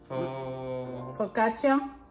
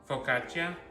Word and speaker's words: Focaccia: How you pronounce it? Focaccia. Focaccia. It's Italian. We're Hispanic, not Italian.